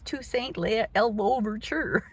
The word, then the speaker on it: Toussaint Louverture: And my history teacher is arguing with me over about how to pronounce Toussaint Louverture. She said, no, it's Toussaint Louverture.